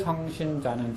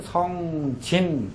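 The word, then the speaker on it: 星辰: 자, 1월 성신자는 천지 소개하라 그랬는데 1월은 아실 거고 성신, 성진 발음이 두 가지 다 돼요.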